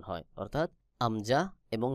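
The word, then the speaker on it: همزة: এই আমজাহ উচ্চারণ হয় কণ্ঠনালী অর্থাৎ হলকের শুরু থেকে। হলক অর্থাৎ গলা, গলার শুরু থেকে আমজাহ উচ্চারণ হয়। যেমন আমজাহ, আমজাহ, আ ই উ, আ ই উ।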